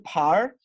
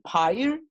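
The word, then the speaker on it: 牌儿: Ya no voy a decir, antes era pie, pero ahora le agregué el R, y ahora va a ser par. Fíjate que no estoy pronunciando la I. Par, par. Fíjense que la I ha desaparecido. No voy a decir pyre, pyre, no. Voy a decir par, par. Fíjense cómo la I desaparece fonéticamente, porque es lo que me dice la regla.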